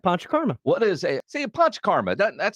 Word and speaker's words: Panchakarma: That is correct, Panchakarma.